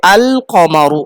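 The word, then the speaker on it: القمر: পক্ষান্তরে যদি চন্দ্রবর্ণ হয় তাহলে লাম উচ্চারণ হবে। যেমন কমারুন অর্থ হলো চন্দ্র, কমারুন মানে চাঁদ। এর শুরুতে যদি আল লাগাই তাহলে কি হবে? আল কমারু, মানে লাম উচ্চারণ হচ্ছে, আল হবে আল কমারু। কেন? কারণ এই কফ হলো সূর্যবর্ণ, এটার আগে লাম উচ্চারণ করতে কোনো অসুবিধে নেই, কোনো মুখে অসুবিধে হয় না, এই জন্য আল কমারু আরামসে বলা যায়।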